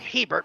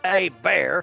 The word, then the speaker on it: Hebert: now here comes Bobby a bear it's looks like Hebert but it's pronounced a bear who was undrafted out